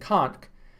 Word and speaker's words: conch: and land crabs and conch, which they sold to us and cooked for us. I think it's pronounced conch, not conch. Spelled conch, but it's conch, a bivalve, or at least a mollusk.